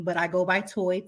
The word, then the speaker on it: Toi: and I'm like no there's no a um it's spelled l a t o i is my real name but I go by toy t o i and so when I made